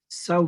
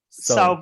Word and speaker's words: São: So what is this sound? Which sound? São 20. São 20. São. São 20. São. You have to put your tongue back and you must say a bit of a nasal sound.